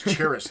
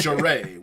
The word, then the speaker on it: Charest: I don't know how you pronounce it, but... I don't know either. Dude, I said Travis Charest for the longest time, so I mean, it's Charest, whatever.